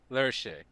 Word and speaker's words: Lerche: Is that how you say it? I think it's pronounced Lerche. Lerche.